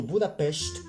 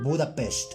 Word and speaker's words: Budapest: I traveled to Budapest, that's how you pronounce it, Google, that's how you pronounce it, people, Budapest.